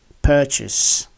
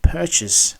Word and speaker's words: purchase: and challenge because the word has the same pronunciation which is purchase purchase as a noun and purchase as a verb thank you for watching don't